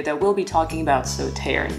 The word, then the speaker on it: Sauternes: we'll be talking about sauter today or sote if you want to give that a french twist to the pronunciation now southern is not